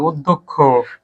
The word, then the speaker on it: অধ্যক্ষ: এক পাও এক না অধ্যক্ষ দিয়ে ফেলছো আনিকা তাইলে ভুল হয়ে গেছে এটা অটা ওর মতন উচ্চার হবে অধ্যক্ষ আনিকা এক নাম্বার কম